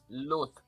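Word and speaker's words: luz: Luth.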